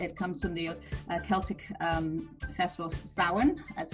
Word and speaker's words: Samhain: And it comes from the Celtic festival Samhain, as it's pronounced.